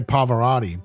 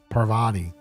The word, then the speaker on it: Parvati: I would always say Pavarotti because I can never say it right I always said it I kept saying it as poverty instead of Parvati and then because I